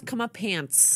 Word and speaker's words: comeuppance: I'm too busy transporting people to know I didn't know it was comeuppance.